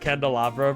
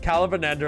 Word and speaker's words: candelabra: That candelabra pronunciation was atrocious. That is, Calabanandra is an inside joke between my family.